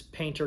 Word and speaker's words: Payntr: and now there is painter golf. Um, if you don't know how to say how to say it or spell it, that's it right there. P A Y N T R. Painter.